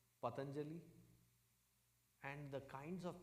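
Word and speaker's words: Patañjali: uh ayurvedic company called patanjali and the kinds of pronunciation I hear of that name patentially no it is not patanjali it is patanjali who's the the envisioner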